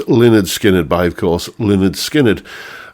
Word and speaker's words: Lynyrd Skynyrd: Pronounced Lynyrd Skynyrd. Yes, pronounced Lynyrd Skynyrd by, of course, Lynyrd Skynyrd.